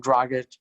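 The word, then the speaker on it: Dragić: Dragic.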